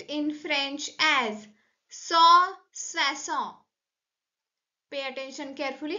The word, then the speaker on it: soixante: And 160 is pronounced in French as swasownt.